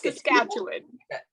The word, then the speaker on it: Saskatchewan: I finally know how to say it yeah Saskatchewan yes that's Saskatchewan okay I like it it pronounces it badly well uh yeah saskatchew no